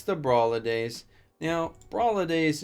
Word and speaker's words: Brawladays: Now, Brawladays is supposed to rhyme with holidays, I'm assuming.